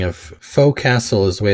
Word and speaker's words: forecastle: about that spelling of faux Castle is way it's spelled on the page but the word it's usually spelled forecastle fo re CAS T le but pronounced fo'c'sle but he writes in